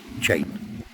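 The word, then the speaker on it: Cheyne: on Chain Beach, um, Chain is actually spelled C H E Y E N, sorry, C H E Y N E, uh, but pronounced Chain.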